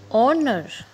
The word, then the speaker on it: honor: we put an here and honor here h creates again the sound of o that's why in these